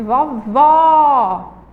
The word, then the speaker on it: vovó: de fechar o som Vejam Só vamos lá falar palavra vovó vovó o outro aberto e vô vô vô escuta o som do ó ele deu uma fechadinho ó vovó vovô tem